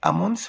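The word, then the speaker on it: almonds: أمونتس هنا ال سايلنت لا تنطق. أمونتس اللي هو اللوز.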